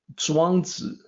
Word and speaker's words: Zhuangzi: And in Mandarin, you would say Zhuangzi. That's the correct pronunciation for what we call Chuang Tzu, Zhuangzi, Sunzi, and Kongzi.